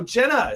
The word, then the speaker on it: JNA: But also have our guest in studio, Jenna. It's spelled JNA.